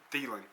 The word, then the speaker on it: Thielen: Thielen.